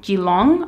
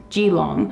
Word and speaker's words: Keelung: a portside town called Geelong I believe it's spelt Keelung but I believe it's pronounced Geelong that place looks freakin